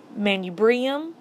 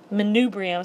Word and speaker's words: manubrium: So the whole thing is the sternum, the top, manubrium, and I've also heard that pronounced manubrium. So either way, the body is the middle, and then the xiphoid process is that little part on the end.